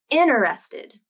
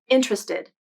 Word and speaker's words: interested: up to four again the more common pronunciation is interested as three syllables and that first t sound is pronounced but i wanted to